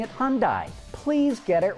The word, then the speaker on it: Hyundai: name of Hyundai properly the company's name is pronounced hunday like Sunday for some reason you and many other Detroit Automotive reporters in insist on pronouncing it Hyundai please get it right